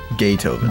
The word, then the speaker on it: Gaytoven: Okay, my personal favorite there is Gay Tuven. Like it's spelled like Beethoven, Gaytoven. but with gay instead of BEE.